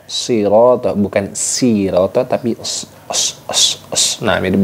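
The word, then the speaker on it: صِرَاطَ: Nah, shad itu memiliki desis mirip dengan desis angsa, ya.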